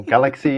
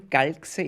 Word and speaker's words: Galxe: If you pronounce it German Galxe, it makes no sense. If you start pronouncing these mix of letters and use a galaxy, then you spelled it complete, or you spoke it completely right, then it becomes galaxy.